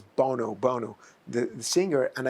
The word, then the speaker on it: Bono: have an event with Boro and I I know mispronounce it's Bono Bono the the singer